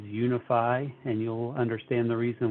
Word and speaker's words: UNIFI: want to make sure people pronounce our name correctly it is unify and you'll understand the